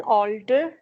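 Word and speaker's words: alter: mall O एज एन ऑल्टर यस ऑल्टर में देखिए ओ नहीं लिखा हुआ इट्स ए एल टी ई आर बट we call out एज एन ओ ऑल्टर ऑल्टर A next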